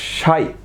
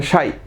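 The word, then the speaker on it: psi: ওকে, কাই, তারপরে সাই, এটা সাই, পিটার উচ্চারণ হবে না, আর লাস্ট হচ্ছে ওমেগা।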